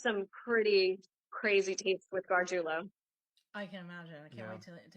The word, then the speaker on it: Gargiulo: Gargiulo. Yeah. Gargiulo. I'll release a lot more tapes with him and of course the other offenders coming up. Because there's some pretty crazy tapes with Gargiulo.